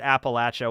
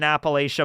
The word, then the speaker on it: Appalachia: detailed crazy uh yeah people from here pronounce it Appalachia well I'm I've lived in Appalachia my whole life and I say Appalachia so I guess I